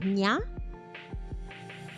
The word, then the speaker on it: Na: Na is pronounced like nya. Nya. All right.